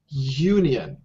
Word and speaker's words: union: and same with Union you see Union actually is um spelled with a vowel however um if you listen to the sound Union the first sound is y y it's a y sound why it's not a